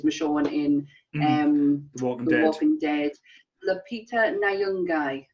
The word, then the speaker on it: Lupita Nyong'o: Lupita Nyong'o, that's how you say it.